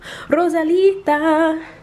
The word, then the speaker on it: Rosalita: You have to roll your R's when you say it too. Rosalita, Feliz Navidad.